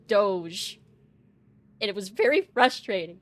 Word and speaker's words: Doge: was convinced that it was pronounced doggy and I'm like no it's Doge and it was very